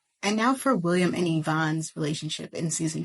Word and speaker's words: Yvonne: See, this entire time, everyone's been pronouncing her name Yvonne, but it's actually Yvonne.